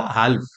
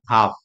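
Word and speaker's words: half: एच ए एल एफ अगर ऐसे actual में पढ़ने जाए तो ये क्या होगा हाल्फ बट यहां पर एल साइलेंट है इसलिए ये क्या हो गया हाफ तो यह भी एक्सेप्शन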